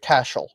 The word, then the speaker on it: Cashel: So this is one of my favorites to talk about because it's pronounced Cashel.